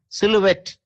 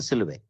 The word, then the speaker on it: silhouette: The silhouette, TTE, silhouette is what the Americans started saying, and that's what the modern dictionaries call as the pronunciation. Okay, so so we take the silhouette, okay, and then we connect all the corners, right?